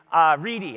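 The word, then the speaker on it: Wrede: Reed. Reedy, I think it's pronounced Reedy, isn't it?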